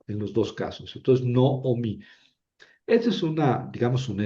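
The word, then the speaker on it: נעמי: El nombre correctamente pronunciado es Noomi. Noomi. No, no es nada. Digamos que ahí yo tendría la tentación de leer na a mí.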